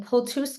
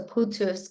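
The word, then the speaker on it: Pułtusk: he was born in pus Poland I always mispronounce it and I just learned after my second trip to Poland that the L is pronounced like a w so putus Poland to Sarah and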